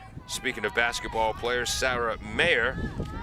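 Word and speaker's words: Maher: I pronounced it Mar throughout most of her first year of varsity basketball. She was too polite to tell me. Her parents finally did. It's Mayer.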